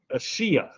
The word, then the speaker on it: Asiya: The I is pronounced with an E sound. It's all good, but thanks for asking. Asiya.